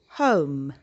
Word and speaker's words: home: The E sound becomes a little bit silent. So when we pronounce, we say home.